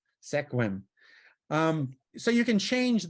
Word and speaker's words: Sequim: is it does a really interesting number on squims hey hey Siri what city do I live